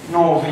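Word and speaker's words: ⲛⲟⲃⲓ: حرف من العمود الاولاني بنطقه ف زي كلمه نيفين نوفي نيفين يعني كل ونوفي يعني خطيه نوفي يعني خطية، نيفين يعني كل.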